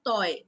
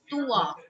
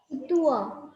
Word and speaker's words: toi: Students often make a mistake by saying toy. It's toi. What is it? Everybody say Tua.